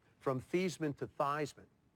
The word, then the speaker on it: Theismann: name from fees minted theismann how do you feel about it she says Val you know the correct pronunciation is actually so that seems to